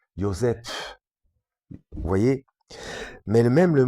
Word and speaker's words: Joseph: avec un H, enfin c'est pas avec un F, ça se prononce F, mais c'est PH, comme si à la base le son F de cette manière-là, c'était comme si on soufflait après le P, Joseph, vous voyez.